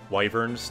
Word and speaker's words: wyvern: And in this game Warhammer, they had these wyverns, these kind of dragon beasts. I always called them wyverns though. I don't know why I like that pronunciation, but I think it's wrong. Yeah, it's pronounced Wyvern.